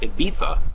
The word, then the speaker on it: Ibiza: Lady, and we're getting ready to dock at Ibiza, or as they pronounce it, Ibiza, has a reputation of being a great party island.